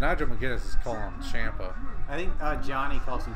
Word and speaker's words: Ciampa: McGuinness is calling him Ciampa. I think Johnny calls him Ciampa too. If you pronounce it in the Italian way, it's definitely Ciampa, not Ciampa.